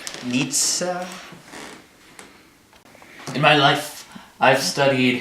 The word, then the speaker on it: Nietzsche: them in every philosophy how do you pronounce it again Nietzsche Frederick Nitza in my life I've